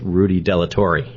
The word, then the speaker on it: Rudy Delatorre: Today I'm with Rudy Delatorre.